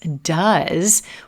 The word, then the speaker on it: does: Similarly, with the word does, does, when does is the main verb, you're going to hear the vowel sound fully pronounced. You'll distinctly hear the cup of mustard sound. We'll spend a little more time on this sound. It'll be more prominent. It doesn't reduce.